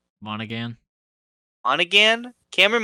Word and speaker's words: Monaghan: uh how do you say his last name monaghan on again cameron monaghan the actor for the video game character he